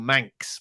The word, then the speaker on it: Mancs: one person from Manchester they are called manx but that's spelled m-a-n-c-s uh whereas manx as from the Isle of Man is spelled m-a-n-x so it sounds exactly the same but two completely different